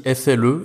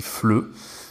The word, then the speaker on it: FLE: Je sais qu'il y a beaucoup de gens qui pensent que ça se dit FLE, et moi j'étais le